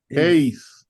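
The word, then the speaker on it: εἰς: Y la otra que sigue, ¿cómo se pronuncia, hermanos? Ace.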